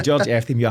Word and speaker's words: Efthymiou: We just said you said George E. George E. So George Efthymiou I think and hope I've got that right.